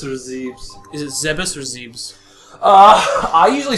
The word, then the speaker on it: Zebes: Okay, so if we're going by Japanese pronunciation, it would because they're very phonetic about their language, so it would be Zebe, so Zebes.